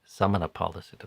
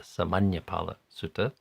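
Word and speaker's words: Sāmaññaphala Sutta: I think I also mispronounced that yesterday, calling it the Samanapala Sutta, but it's the Samanyapala Sutta.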